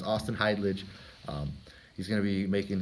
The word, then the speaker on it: Heidlage: That is how you say your last name, right? Is it Heidlage? Heidlage. It's Heidlage.